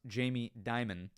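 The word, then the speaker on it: Jamie Dimon: Rosa, it is technically pronounced Jamie Diamond. Uh, but we up here joke around and call him Jamie Demon.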